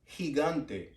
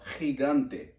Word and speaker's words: gigante: you pronounce this and this would sound like higante or Gigante which really means Giant for it sounds like